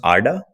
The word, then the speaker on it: Arda: I checked out the Arda Finance it's it's pronounced Arda yeah it's pronounced uh it's borrowed from if